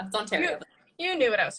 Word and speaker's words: Ontario: I said Ontario. It's Ontario. Yeah, same. It's Ontario.